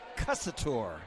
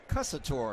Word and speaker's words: Cussatore: ayersa in comes jordan cussatore cussatore and i was given that pronunciation by two of the bronco players jordan custer senior six